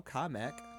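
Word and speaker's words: Kamek: And if it was meant for Japanese pronunciation, it wouldn't end in a K. So, it's not meant for Japanese pronunciation. But it but it was Well, so it's still comic.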